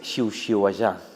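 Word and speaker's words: xiuxiuejar: ¿Y cómo se pronuncia? Xiu-xiuejar. Sihuella. No. Las primeras son sordas y la Ajá. última será sonora.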